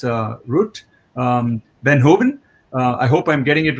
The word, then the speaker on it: Ruut Veenhoven: I just got corrected yesterday when I was pronouncing it as Ruut. It's Ruut Veenhoven.